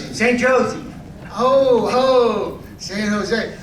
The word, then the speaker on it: San Jose: San Jose. Oh, see in Spanish you say the the J. You don't you don't say it like you don't say you say the J like a H.